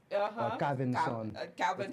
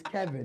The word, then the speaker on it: Calvinson: I want to say, first of all, thank you for saying it correctly. Only because I've heard Calvin, Madison. Also, I grew up in Miami and Little Haiti, and most people, definitely all of my closer Haitian friends, they refuse to say my name right. They can see it written on paper, and it's still Kevin. Calvinson. Calvinson. It don't matter. It's Kevin.